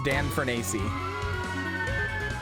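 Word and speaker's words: Dan Fornace: Also, yes, that's actually how his name is pronounced. It's Dan Fernacey.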